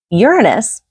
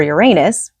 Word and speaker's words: Uranus: expanding whatever it touches Uranus or Uranus whichever you want to however you want to pronounce it is um ruled